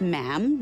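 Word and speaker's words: ma'am: majesty and after that is just mam rhymes with jam and it's always a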